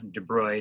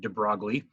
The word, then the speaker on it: de Broglie: Louis de bruyne so he pronounced the name Debray not de Broglie hmm he's European what